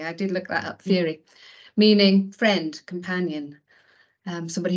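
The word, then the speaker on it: Fiere: say it Jackie I did look that up Fury meaning friend companion um somebody who goes alongside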